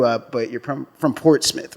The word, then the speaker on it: Portsmouth: but you're from from Portsmith right yeah I'm from Portsmith all right see that's how you pronounce it Port Smith Portsmith not Portsmouth nobody said that man